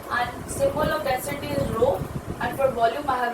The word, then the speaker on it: rho: Pronunciation of this sign is RHO, rho.